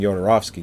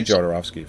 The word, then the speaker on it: Jodorowsky: in the documentary so but it's yo the J sounds like a y Yoda I'm mispronouncing it no no I I'm gonna continue saying yorovsky you can say jodorovsky you say I wasn't